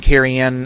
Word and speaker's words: Cerian: The name Kerianne, as it's pronounced, is a Welsh name.